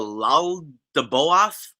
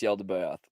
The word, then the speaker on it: Yaldabaoth: there's something called the Lal de Boath, which, again, Google Translate makes all different types of all week I've been hearing people mispronounce Yaldabaoth.